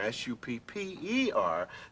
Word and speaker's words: supper: First of all, if you just have a P by itself after the U, it's pronounced ooh, you see. Uh-huh. What you need is another P. If you put another P in there, S-U-P-P-E-R, then it's pronounced supper, because the other P changes it to a.